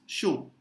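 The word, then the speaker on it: chaud: CH combination is always sh. Like shana. वो छाना ही है. ठीक है? So that CH is always sh. AU, we just learned O. And we don't pronounce the single D that we learned like few minutes back. So this becomes show.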